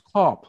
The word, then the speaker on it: Kapp: I get it right because it's a German name. But oh damn, I've been saying it wrong all these years. No, it's not Kapp. Yeah, okay. He told me it's Kopp.